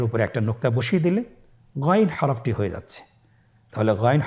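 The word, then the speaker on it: غين: এবং আমরা জানি যে গাইন হরফটি মোটা হারাফ অবশ্যই একটু মোটা করে বলতে হবে আপনারা আমার সাথে চেষ্টা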